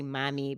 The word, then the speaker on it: Mommy: the founder of Yogi mommy am I saying it I want to say Mommy because I speak Spanish yeah that's exactly how you say it it is Mommy okay do you speak